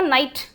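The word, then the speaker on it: night: फिर है आपका नाइट। तो जी एच जो है उसका प्रोनाउंसिएशन यहां चेंज हो गया। यहां पर अपन जी एच को बोल ही नहीं रहे।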